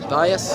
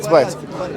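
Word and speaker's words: בית: Bias? How do you say house? Bias? Is it bias? Or Bayet? Bayet.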